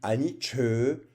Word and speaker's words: anicca: CC se prononce che, mais ce sera un che allongé, comme par exemple anicca, qui se dit aniche, qui veut dire impermanence en pali.